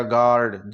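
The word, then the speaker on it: guard: वो भीला रहा है तो यू को हम साइलेंट कर देंगे तो यह हो गया गार्ड जी ए आर डी की ही हम ध्वनि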